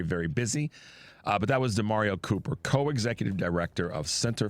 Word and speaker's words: DaMareo: His name is DeMario. That's spelled D-A-M-A-R-E-O, Cooper.